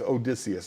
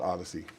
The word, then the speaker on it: Odysseus: No, it's Odysseus, not Odyssey.